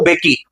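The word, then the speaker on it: Mbeki: अब first deputy president के तौर पर थाबो बेकी ने ली। एम यहाँ पे साइलेंट है।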